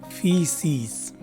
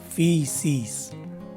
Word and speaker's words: feces: the right way to say this word is feces again feces this is the sixth word in our